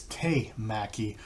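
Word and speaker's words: temaki: The hand roll is te maki, because tekamaki, if I remember correctly, is tuna. Teka is tuna. And so I apologize for that. The hand roll is te maki, not tekamaki.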